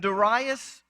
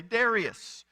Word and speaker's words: Darius: Now, if you're like me, I was brought up hearing pastors say Darius. In fact, some of my professors would say that, and then they would correct themselves. Actually, if you want to pronounce it right, it was Darius.